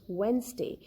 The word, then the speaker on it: Wednesday: any of these letters letter d will be silent like in wednesday it is not pronounced as wednesday the word is wednesday d is silent in